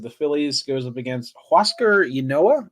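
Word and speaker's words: Huascar Ynoa: phillies goes up against huasco inoa i believe is how you say his name i believe that's how you say it yes um yeah uh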